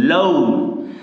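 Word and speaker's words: loan: এ এন এটা উচ্চারণ করি লোন কিন্তু সঠিক উচ্চারণ হচ্ছে লোন ও আর এর পাশাপাশি থাকলে এটার উচ্চারণটা ঔকার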